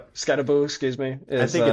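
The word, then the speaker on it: Skattebo: Scatabo is Scat Scataboo. Yep. Scataboo, excuse me. Is I think it's the guy spelled Yeah, it's spelled Scatabo, but it's I've always heard it's Scataboo.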